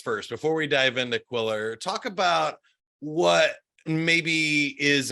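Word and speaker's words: Qwilr: Jonathan Blackburn he is VP of sales at quiller that's spelled q w i l r you can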